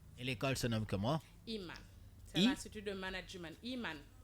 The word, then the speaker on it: Iman: Iman, parce que ça donne imam quoi, donc il faut avoir une prononciation. Iman. Imam ou bien Iman? Iman. I-A-M. I-M-A-N. I-M-A-N, ça donne Iman.